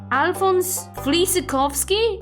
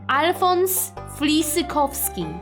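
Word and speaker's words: Alfons Flisykowski: Alphonse Flizakovsky? Is this who he meant? Oh my god, he made it sound so bad. Let me give you the proper pronunciation. Alphonse Flizakovsky.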